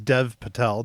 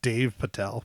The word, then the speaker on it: Dev Patel: Almost as bad as Dev Patel, not Dave Patel, but it's okay.